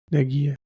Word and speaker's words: Nadia: My mom's name is Nadia. Nadia, and like Nadia from like in Ukrainian, it literally means hope. It's just a name. Nadia.